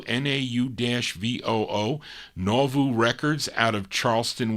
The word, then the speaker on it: Nauvoo: Is it how do you pronounce that? Nauvoo, N-A-U-V-O-O, Nauvoo Records out of Charleston, West Virginia.